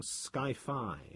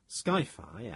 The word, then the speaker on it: sci-fi: He couldn't resist coining Skyfi as an analog in appearance and pronunciation to hi-fi, the well-known abbreviation for highfidelity.